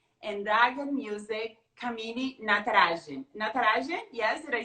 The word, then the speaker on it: Natarajan: Natarajan, yes, did I say it right? Yes, Okay. Natarajan.